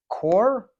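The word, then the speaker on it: Corr: good I was really into uh Ryan uh core that's how you say his name he he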